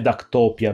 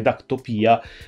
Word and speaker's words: Dactopia: Dactopia, per l'appunto l'accento, ho visto già il video di Fisbio, di The Fisbio Show, penso che l'accento non vada dove l'ha detto lui, quindi non è Dactopia, ma è Dactopia, perché comunque il termine greco di riferimento, topos, ha l'accento sull'ultima sillaba, quindi è Dactopia.